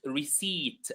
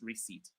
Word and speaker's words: receipt: So this word is pronounced receipt without the P. So the P here is silent as well.